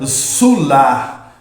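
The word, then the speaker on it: סלח: a palavra perdão é salar né numa pronúncia mais original a gente pronuncia sular né se lermos esse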